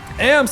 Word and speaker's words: ams: AMS, of course, is how you say it.